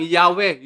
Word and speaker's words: Yahweh: O Ang tetragrammaton O isinalin bilang yahwe yung complete pronunciation po nito ito ay